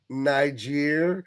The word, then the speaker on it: Niger: Guys, it's a different word and it's pronounced differently. It's a onelet difference and it makes all the difference in the world. There's never been a more important G in the world, right, than that one right there.